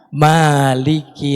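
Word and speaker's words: مالك: Adapun mim yang panjang di Al-Fatihah. Maliki yaumiddin. Pemilik hari pembalasan. Atau juga di surat Ali Imran ayat 26. Kulillahumma malik. Katakanlah ya Allah Malik, pemilik mulk, pemilik kekuasaan. Jadi coba kita cek, kalau mimnya panjang artinya apa? Pemilik. Kalau mimnya pendek, Raja.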